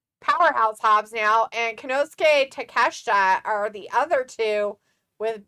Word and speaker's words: Takeshita: And Pico's like, say it like it's spelled, D. Take a shit. I know, Travis says it like that all the time, but I was trying to be nice and saying his name correctly of Takeshita.